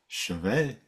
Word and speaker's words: chevet: And it says chevet. And there's a very nice woman saying chevet.